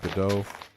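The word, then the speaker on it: Godot: God, I a friend told me that that's how you say it. Now I've been doing it. Hate him. Um, I'm going to say go dot. That's how I'm saying it. Creator be damned. I'm saying go dot and I'll take that to my grave.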